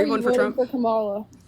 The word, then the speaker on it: Kamala: Her name is Kamala. Pronounce it right, okay?